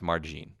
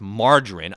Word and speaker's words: margarine: margarine and she's like i'm pretty sure it's pronounced margin what do i do at this point right what do i do i don't go no you idiot it's pronounced margarine i know because i'm